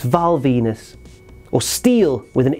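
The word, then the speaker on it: Val Venis: His last name rhymes with penis. That's right. It's Valenus or Steel with an E on the end as he was known in CMLL.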